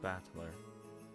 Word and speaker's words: Battler: my given name that is made up of the characters for fight and person and is pronounced battler put it all together and you've got USI romia batler pretty crazy right again